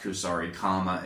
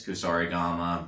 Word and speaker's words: Kusarigama: Because of the way that Japanese works, it's not Kusarikama, it's Kusarigama, but that's just one of those weird pronunciation things and the way that they handle their words.